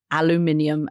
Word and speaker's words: aluminium: He can still impose sectoral tariffs, the tariffs on steel and aluminium, as we call it. Aluminium. I've never understood how you guys put the syllable where you do, but that's okay.